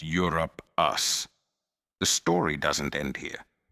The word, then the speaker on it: Europaeus: Etymology of the name comes from Europe, and it is pronounced as Europe us.